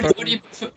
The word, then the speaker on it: Thorpe: It's a good pronunciation, Thorpe. Yeah, yeah, that's it. You got it. Yeah, Thorpe.